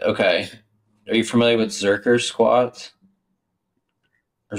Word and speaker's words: Zercher: are you familiar with zerker squat or zercher I think they pronounced zerker squat like you hold it